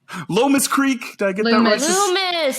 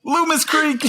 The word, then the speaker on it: Loomis Creek: you can check out god lomas creek oh my god it's literally so easy to pronounce loomis creek you can find that